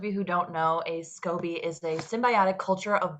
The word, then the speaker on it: SCOBY: that you once made a scoby is that pronounced right scoby yes you're correct that was in the shape